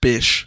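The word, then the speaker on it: Bysshe: Which I'm reliably informed is pronounced Bish. Okay. Should be like Bish. Bish or Bishy.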